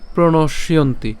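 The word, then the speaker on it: প্রণশ্যন্তি: কে নিয়ে গেলাম তাহলে কি দাঁড়ালো কুলক্ষয় কুলক্ষয়ে প্রণসীয়ন্তি অথবা আমরা এখানে প্রণস ইয়ন্তিও বলতে পারি ঠিক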